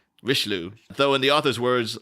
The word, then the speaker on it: Richelieu: the play was about Cardinal Richelieu or Richelieu I'm a loser I pronounce that sorry rish loo so in the author's